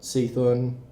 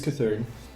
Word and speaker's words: Cthulhu: It's not Seathun. No, don't say it like that. It's Cthulhu.